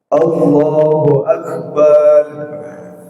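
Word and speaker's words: الله أكبر: Dan juga tidak boleh ketika kita mengucapkan takbiratul ihram itu memanjangkan huruf bnya. Allahu Akbar.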